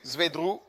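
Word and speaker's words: Zwedru: Le suivant est Zwedrou Wru U Zedrou également situé au oui Libéia.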